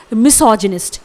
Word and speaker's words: misogynist: Spelling है MISOGYNIST। इट इज मिसोजिनिस्ट।